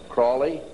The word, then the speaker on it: Crowley: learned about with aleister crowley he likes to bring have his name pronounced crowley to rhyme with holy and the satanists today